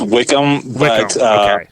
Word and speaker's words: Wickman: episode but it's Wickman technically right it's it's pronounced Wickham there are there are a